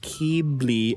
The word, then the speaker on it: Keebly: Just to try and clear up any potential confusion, my name technically is meant to be pronounced Keebly or Keebly, but I don't really care what to say, whatever works for you.